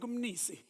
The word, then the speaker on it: Mnisi: He says, no, it's just like Umnisi. Okay. So thank you to Frank Munisi.